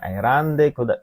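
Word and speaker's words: 選んで: kata erabu, erabimas artinya memilih, memilih ya, jadi bacanya erande kuremashita. Haha ga kono skirto o erande kuremashita.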